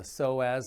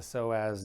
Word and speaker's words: psoas: Now there is a muscle that sits in front of the hip, and that muscle is called the psoas muscle, spelled with a P-S.